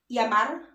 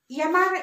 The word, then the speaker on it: llamar: So when you see a double L in Spanish, it's pronounced as the letter Y. So for example, it's the word llamar. So, llamar. Llamar in English is to call. So since it's double L, you pronounce it as Y, so it's llamar.